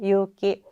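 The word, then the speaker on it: 勇気: 용기는 유기라고 해석하면 되죠. 유기라고 발음하면 돼요. 유기.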